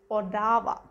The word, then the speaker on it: Ottawa: capital of canada um when you read it it's like ottawa but when you pronounce it is odawa which actually can create